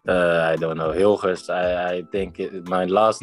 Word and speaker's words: Hilgers: So, how do I say your name? The correct pronunciation, yeah. Yeah, that's quite good. Hilgers. Can you say again? Hilgers. Hill. Gers.